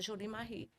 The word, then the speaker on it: Jolie Marie: Mas o francês não pronuncia o S, então é Jolie Marie.